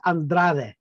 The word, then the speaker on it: Andrade: panel Nikki and Wendy meet voice actor Andra and the actual Mexican pronunciation is andrad so let's talk about your career how did